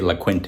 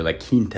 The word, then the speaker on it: La Quinta: Inn in San Jose I know a lot of people say LaQuinta it's actually laint if you want to get proper and pronouncing it properly so hey I'm